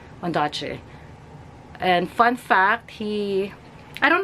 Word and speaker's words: Ondaatje: Someone said that the way you pronounce his last name is Ondaatje, but I've always said it's Ondaatje.